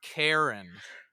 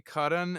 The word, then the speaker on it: Karan: That's his name spelling, Curran, and pronounce Karen. What? But and the proper thing is to say Karan, and every time I